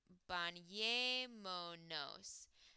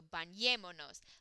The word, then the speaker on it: bañémonos: And then we have to add an accent on the second to last vowel or second to last syllable of the verb itself. So the verb is bañemos. Second to last vowel is this E, so bañémonos.